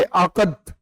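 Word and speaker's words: عقد: देखो ए क्यू डी जो है ना इसका प्रोनाउंस कैसे करोगे? आकत।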